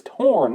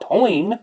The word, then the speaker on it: Torn: I was like, dude, the song is Torn, not Toin.